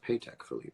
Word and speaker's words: Patek Philippe: Awards as a mirror world's most baller mirror pay tech Philippe is that true it's pronounced paycheck Philippe well I've been saying it right all along